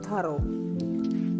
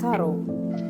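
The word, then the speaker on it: thorough: ഒ ആർ ഒ യുജിഎച് ത്രൂ അല്ല തറോ തറോ രണ്ട് syllable ആണ് ഫസ്റ്റ് സിലബിൾ ആണ്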